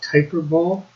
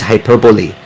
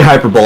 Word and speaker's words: hyperbole: i survive texas i always thought it was pronounced typer bowl nope is hyperbole i'm gonna put the actual uh pronunciation guide for it in the chat well if you say hyperbole i think everybody knows what you're saying so